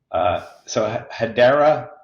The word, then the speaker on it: Hedera: So Hedera, if I got the pronunciation right. You did. Oh, good. I'm 2 for 2. I should quit now. So thanks everybody for listening. So Hedera, and again, I am not Web3 knowledgeable.